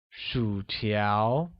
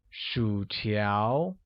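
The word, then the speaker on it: 薯条: let's take a look french fries translates as Shu tiao which uses a falling rising tone on you and amid rising tone on a making it shoot ow good chicken wings becomes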